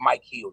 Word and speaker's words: Michaels: making uh jokes because my actual name is like rip Mike heels it's not Michaels it's actually Mike heels if you look how I spell it it's it's r i p m i c h e a LS so a lot of